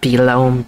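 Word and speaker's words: Belome: beone or rather whatever that means that's pronounced belom bam has shown his face again Mario clone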